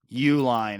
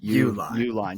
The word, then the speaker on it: Uline: Uline is how the name is pronounced. Uline. Just think Uline. If you go to the Northwestern website, but pronunciation is just Uline. So think of it that way, a little bit less complicated than what you tried to go with there.